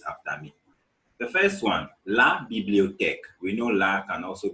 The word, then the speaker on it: la bibliothèque: names so that on your own, you can pronounce it correctly. And always make sure you repeat after me. The first one, la bibliothèque.